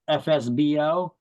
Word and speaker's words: FSBO: FSBO, that stands for for sale by owner, or it's pronounced FSBO.